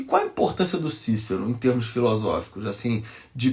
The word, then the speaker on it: Cícero: vive um sujeito chamado Cícero, o grande Cícero, né, na pronúncia tradicional, né, na pronúncia eclesiástica seria Cícero, né, ou então na pronúncia reconstituída Cícero, olha que birutice, né, o latim, né?